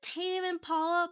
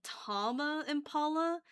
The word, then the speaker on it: Tame Impala: Is it Tame Impala? But for some reason I pronounce it like Tama Impala. Phonetically, it feels better to pronounce it like that.